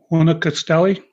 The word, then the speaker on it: Huanacaxtle: I cannot not pronounce the name. Talking about Bucerias? Not Bucerias. No, not Bucerias. Oh. It's Huanacaxtle.